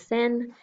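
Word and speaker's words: 先: This is the symbol that says sen.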